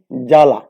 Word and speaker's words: জ্বালা: যদি আমরা লিখি জ্বালা, বর্গীর জয়ের সাথে বফলা আছে, আকার লয়াকার, কিন্তু যখন উচ্চারণ লিখব তখন বর্গীর জয়াকার লয়াকার হবে।